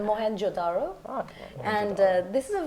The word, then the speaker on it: Mohenjo-daro: pronounce that, no, but I'll fix it for you. That's your job. It's Mohenjo-daro.